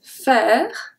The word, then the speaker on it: faire: J'irai faire, faire. AI is also pronounced as a E because it's in the middle of the word.